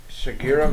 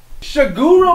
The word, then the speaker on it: Shigeru: video game designer who created the mario franchise shigeru miyamoto shiguro miyamoto you pronounce that's the wrong you looks like oh